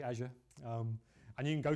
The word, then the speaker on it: Azure: you can go to Azure or Azure or you like to pronounce it I I say Azure um and you can